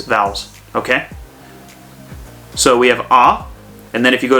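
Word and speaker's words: あ: in the a column and row so it's pronounced ah okay ah as in hmm uh august okay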